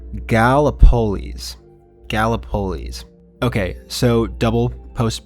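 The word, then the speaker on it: Gallipolis: Uh, it is pronounced Galapololis. Galapololis. Okay, so double postp production me here. It is pronounced Galapololis, but this tornado was in that town on April 23rd, 1968.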